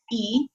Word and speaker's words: y: When you do that, you change the letter Y, which means and. It's pronounced E.